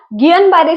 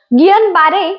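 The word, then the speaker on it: Guillain-Barré: पुण्यामध्ये सध्या गियन बारे सिंड्रोमचे खूप रुग्ण दिसतात गियन बारे ही फ्रेंच नाव असल्यामुळे त्याच्या स्पेलिंग मध्ये आणि उच्चारामध्ये फरक आहे तर काय आहे हा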